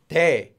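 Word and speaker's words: 대: is this one now this one is pronounced as pay and it means big big to be big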